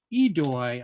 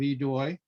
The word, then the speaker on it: aidoi: Under the usual pressure of the clock, Joe was able to pull off an efficient combination, starting with the OSW AIDOI, pronounced idoi, I think, and it's the plural of eidos, which is a Greek term for respect.